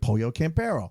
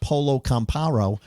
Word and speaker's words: Pollo Campero: You got to go to a restaurant that like Pollo Campero, Yeah. not Polo Camparo.